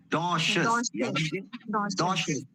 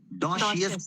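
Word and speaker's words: docious: डोशस डोशियस लोग जो प्रोनाउंस करते हैं गलत करते हैं।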